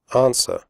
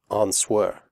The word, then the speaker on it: answer: close the door close answer the W sound is silent answer do not say an swear women the O in